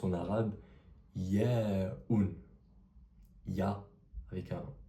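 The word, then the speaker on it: ياء: Cette lettre traduit la lettre i comme j'ai dit précédemment, elle se prononce en arabe ya avec un comme si tu mettais un y au début du mot, ça fait répète après moi.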